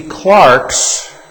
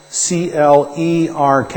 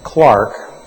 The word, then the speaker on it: Clerk: Scots into prison the clarks CL e RK is pronounced Clark in America we like to pronounce it clerk but the correct pronunciation is Clark the clocks of Aberdeen